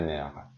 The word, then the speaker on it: nerfs: کلمه نرف به معنای عصب اگه مفرد باشه افشو میگم نرف، ولی وقتی جمع بسته میشه دیگه افش تلفظ نمیشه. ça me tape sur les nerfs.